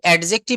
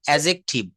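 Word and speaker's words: adjective: এলটা হচ্ছে silent letter আমরা ছোটবেলা থেকে এটা পড়ে আসতেছি এডজেক্টিভ নো আজ থেকে বলবেন এজেক্টিভ এজেটিভ এজেক্টিভ এই ডিটা কিন্তু এখানে সাইলেন্ট লেটার আপনি গুগ এ সার্চ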